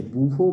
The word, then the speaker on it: Bouveault: আছে, এই নামটা হচ্ছে বুভো ব্ল্যাঙ্ক বিক্রিয়া। বুভো বানানটা একটু জটিল, BOUVEAULT, বুভো ব্ল্যাঙ্ক রিয়াকশান।